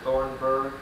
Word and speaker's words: Thornburgh: That H is silent on it. Okay. This is February 23rd, 1988. Yeah. My name is Joe Todd, and this is an interview with Mr. Thornburgh in Fort Towson, Oklahoma.